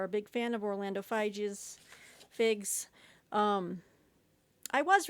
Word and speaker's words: Figes: As you know, I love Orlando Figes, but not enough to figure out how to pronounce his last name. Apparently, Figes, Orlando.